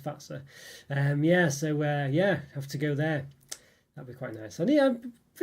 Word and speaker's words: Fazer: You have to Fazer, as we'd say, but I believe it's pronounced Fazer.